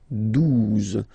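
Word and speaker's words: douze: 12, 12, O, U, the two together will give you the sound OU, okay? And then Z, 12, 12, all right?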